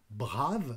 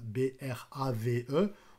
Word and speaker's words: Brave: d'un navigateur qui s'appelle brave B R a V e on dit plutôt brave mais je prononce à la française et donc dans leso